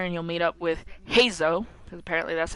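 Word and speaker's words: Heizou: You'll come here and you'll meet up with Hazo, because apparently that's how you say his name.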